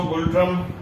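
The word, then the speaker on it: Ngultrum: N silent है, गुल्ट्रम इज the currency of Bhutan.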